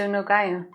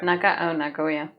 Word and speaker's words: Nagoya: He headed to Nagaya. To where? Nagoya.